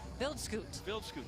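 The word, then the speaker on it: Wildschutt: And, you know, also Adrian Viltz, you know, we've been saying it all different ways. He actually told us how to say his name yesterday. Vildscoot.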